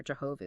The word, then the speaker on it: Jehovah: This name, YHWH, sometimes pronounced Yahweh or Jehovah, it's used like over 6,800 times in the Old Hebrew Scriptures.